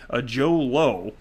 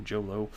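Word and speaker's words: Jho Low: by disgraced Malaysian financier Joe Low. I'm guessing that's how it's pronounced. J-H-O, and then the last name's Low, Joe Low.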